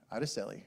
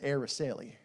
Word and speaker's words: Araceli: know who this is that's Araceli or if you're from the south that's air raceli all right it took